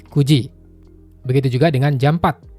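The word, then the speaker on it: 九時: Kalau untuk jam 09.00 itu bukan quji tapi kuji.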